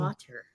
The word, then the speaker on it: water: Water.